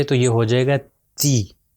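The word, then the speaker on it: تِ: اس کے نیچے اگر کسرہ آ جائے تو یہ ہو جائے گا تی. اگر اس کو کہیں گے تے تو یہ غلط ہو جائے گا، اس کا تلفظ ہے تی.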